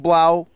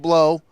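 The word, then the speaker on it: Blough: I'll get rid of David Blau, who I used to call David Blow, because at first I didn't know how to say his last name.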